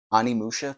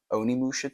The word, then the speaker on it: Onimusha: So for starters, we got, how do you pronounce this? Animusha 2. Onimusha 2.